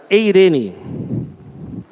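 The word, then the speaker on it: εἰρήνη: A paz é uma palavra que em grego é pronunciada eirene.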